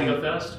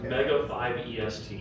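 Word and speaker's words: Mega5EST: Oh, so it's spelled really weird, but if you type in MEGA, the number 5, a dash, and then EST, it comes up. We call it MegaFest, but it's Mega 5 EST.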